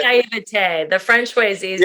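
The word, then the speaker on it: naïveté: I always say naivety, but it's actually hang on, I got this. Naivety. There we go. Thank you. Naivete. Right? It's a French word.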